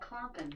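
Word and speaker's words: klompen: Alexa pronounced KL o M p en I pronounce that clomping clomping ok clomping shoes ok right so those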